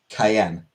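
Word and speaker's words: Cyan: his name is pronounced Cayenne like the p like the pepper.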